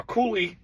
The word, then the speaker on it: Coulis: to be shocked now coie and it's spelled c u l i s this is the French pronunciation it's called [ __